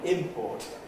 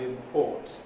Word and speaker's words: import: no not the verb the noun import and the verb import to import something the verb is stressed on the second syllable and the things you in you import are imports from the first you don't have any